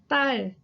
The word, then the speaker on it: 딸: 딸 is really difficult for native English speakers to pronounce just because it has the 리을 at the bottom and it also has the 상디귿, the double D. So it's like the t sound. So 딸. 딸.